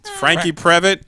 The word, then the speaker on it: Franke Previte: remember to speak into the mic I'm Frankie prevatt and Lisa Sherman hi and now I'm gonna